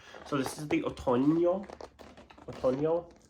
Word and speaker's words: Otoño: Otoño is how you say it in Spanish.